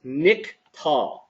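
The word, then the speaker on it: נִקְטַל: And the way that we read this word is niktal, okay?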